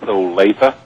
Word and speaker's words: Olathe: On the phone right now from Olathe, Kansas. Is that how you say it? Olathe? It's Olathe.